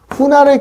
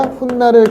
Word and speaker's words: 훗날: 그럼 우리가 발음할 때 어떻게 하냐? 후날을 기약한다가 아니라 훗날을 기약한다 이렇게 했죠. 그러면 여기 없던 니은이 하나 생겼잖아요.